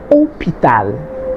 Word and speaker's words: hôpital: Remember, when it's written, you can see the hôpital has an H, but it is a silent H. It's not pronounced. So you pretend as though the H were not there. So it's hôpital.